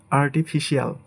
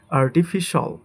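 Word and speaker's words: artificial: এটাকে আমরা বলি আর্টিফিশিয়াল, বাট এটা হবে আর্টিফিশাল, আর্টিফিশাল। এটাকে বলি আমরা স্পেশাল, স্পেশাল, বাট এটা সঠিক উচ্চারণ হবে স্পেশাল, স্পেশাল, স্পেশাল, স্পেশাল।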